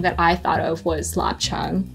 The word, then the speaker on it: lap cheong: Well, we were talking about lap cheong.